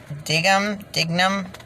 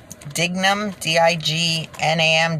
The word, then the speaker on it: Dignam: Leo and Paul, I'm not sure how to pronounce it. It's Dignam, D-I-G-N-A-M, Dignam, were charged by information with fraud and